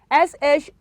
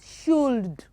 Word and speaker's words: should: it is what half s-h-o-u-l-d it is should it is not shield the l is what is silent y-o-l-k is york yolk